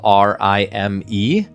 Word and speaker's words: Rime: It's spelled r i m e. So, it's not like r h y m e I guess, but it's Rime.